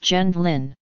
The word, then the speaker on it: Gendlin: The family changed their name to Gendlin upon their arrival in the United States, and in English it is pronounced Gendlin.